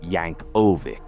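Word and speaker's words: Yankovic: The guy's name was Weird Al Yanovic, pronounced Yank Oik.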